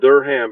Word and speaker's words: Durham: It's spelled Durham, but it's pronounced Durham. It's weird.